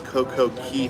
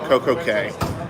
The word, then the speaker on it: Coco Cay: Then this last week, Royal Caribbean put something out saying it's not Key, it's K.